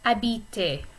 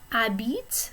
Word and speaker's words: habite: And that's because habite, the H is silent, so this is really a vowel sound.